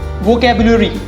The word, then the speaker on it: vocabulary: Vocabulary. Vocabulary. The correct pronunciation is vocabulary.